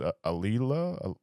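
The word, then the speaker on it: Auli'i: How do you pronounce it again? It's Aaliyah.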